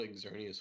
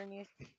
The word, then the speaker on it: Xerneas: I caught Xerneas with a regular Pokeball. Also, first try. Xerneas.